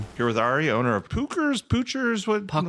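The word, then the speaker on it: Puchers: Not only do they not How do you say it and how do you spell it? Right. I was just going to say it's Pookers and it's P U C H E R S.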